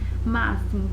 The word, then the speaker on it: máximo: momento da pronúncia né máximo tem som de X né aí com X que tem som de s em máximo trouxe né